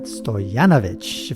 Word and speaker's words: Stojanovic: I'm here with Stojanovic from Serbia. Oh, you pronounced it right. Oh, You're God. A few people who can. Okay. Most Serbians cannot pronounce Stojanovic right.